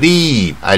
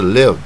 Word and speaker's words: live: live，一般人一定念成 leave，I leave here，那树叶念成那个树叶的 leave here，它是 live 啊，所以呢，这边